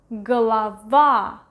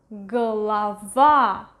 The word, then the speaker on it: голова: Голова, голова, голова. stress is over here. This O is right next to the stressed vowel, so it is pronounced as A, голова, while this one is more than one syllable ahead.